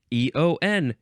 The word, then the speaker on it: eon: year uh okay next EO n now that's not how you say that word I got hung up on eoom this is just the word Eon but it's a variation